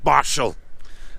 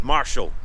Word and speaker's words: Marischal: Keith Marshall, that's the correct pronunciation.